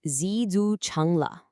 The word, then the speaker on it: 知足常乐: The idiom is pronounced zu chungla.